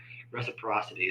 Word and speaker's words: reciprocity: Extra syllable in there. My bad. See, told the country kicking in. I'm over here adding syllables in there that don't even matter. Reciprocity.